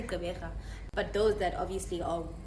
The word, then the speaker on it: Gqeberha: So if they can say that, then I mean, you can say Gqeberha.